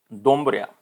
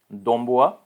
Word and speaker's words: Doumbouya: Next, Colonel Mamadi Dombria. So if my pronunciation is wrong, then please forgive me. It is Mamadi Doumbouya, Guinea's junta's leader, sworn